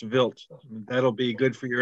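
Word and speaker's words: Wild: a Swiss astronomer Paul vilt oh and because it's spelled w-i-l-d and he is Swiss it is pronounced vilt that'll be good for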